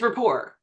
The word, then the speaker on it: rapport: reposs never pronounce it it's okay it it's Rapport oh okay Rapport that's